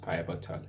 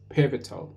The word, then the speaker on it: pivotal: pital pital is written like pabal it's not pronounced pabal it's pital this is pivotal information in that is been